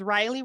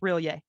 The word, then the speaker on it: Rillier: And when you say, hey, your name's Riley, right? Like the ears kind of go up and then they go down. And says, no, it's pronounced Rillier.